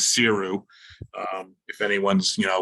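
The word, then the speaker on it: Saothrú: word to pronounce but you would never know to say that by reading the bottle so it's known as siru um if anyone's you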